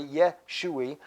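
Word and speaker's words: ישוע: It's still pronounced the same way, Yeshua, just like Ehaye. You notice the sound because of the vowel.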